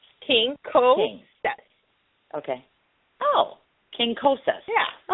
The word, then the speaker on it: Quincoces: but it means like if you want it phonetically like king okay King Cole step okay Oh King cosas